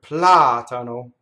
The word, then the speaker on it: platano: Here we have another antepenultimate stress, the word platano. So the accent is on the first ah.